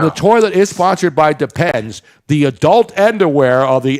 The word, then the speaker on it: Depend: Okay, we have been saying it wrong our entire lives. It is depend. It's depend not depends.